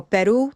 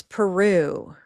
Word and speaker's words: Peru: So if we take a word from another language, we might give it a different stress and it will have one stress syllable. Okay, so Peru becomes Peru. Notice how much longer it lasts in time. Peru, Peru, right?